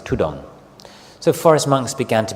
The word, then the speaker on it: ธุดงค์: The Thai word, the derivation or the way it's pronounced is tudong.